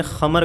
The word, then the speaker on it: خمر: کو قرآن کریم نے خمر کہا، خا کے تلفظ کے ساتھ، اور خمر کے متعلق